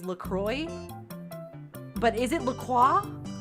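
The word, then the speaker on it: LaCroix: I feel like I when I was just reading it thought it was lacro lqua because I I took French in school. But then I learned it was Lacroy.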